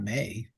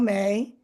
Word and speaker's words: Mei: I think her name is Mei, and not May.